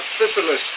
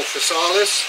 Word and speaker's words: Physalis: to be talking about physicalist today or fisalis whichever way you like to pronounce it we're in the